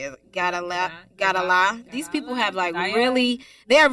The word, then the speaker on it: Gadalla: Gadalah. These people have they have really eccentric ass names, but his first name is spelled Moustafa, last name Gadalla.